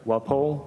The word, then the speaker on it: Walpole: So for this particular community, and am I going to pronounce this correctly? I'm sorry. Walpole? Yes, Walpole.